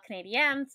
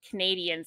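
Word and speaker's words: Canadiens: late okay sh um for the Montreal Canadian yes I always say it that way that's how that's how you're supposed to say it right but so many people even other Canadians say it as Canadians not well it's yeah but not their name so they're dumb I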